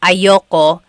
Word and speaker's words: ayoko: Yep, ayoko. That's just a pronunciation thing.